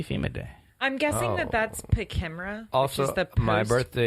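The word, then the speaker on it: PKEMRA: It's called Pachimera. Post-Katrina Emergency Management Pachimera? Reform Act. Yeah. Spell that.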